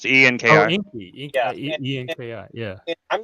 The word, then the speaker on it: Enki: how do you spell that? Inky. It's ENKI. Oh, Inky.